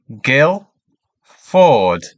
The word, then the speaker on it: Guildford: how this is pronounced Gail Ford and again Gill Ford so in Guildford we do not pronounce the d so it's straight on Gill then Ford great so let's have